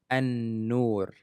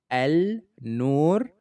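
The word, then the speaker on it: النور: Sudanese Arabic, which is an-nur. An-nur. Okay, originally it's supposed to read al-nur, but since n is considered as sun letter, then the L is gone. So it's an-nur.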